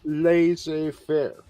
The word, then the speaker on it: laissez-faire: say do you say laissez-faire or so the French way if you speak French you know it's laissez-faire that's how it's pronounced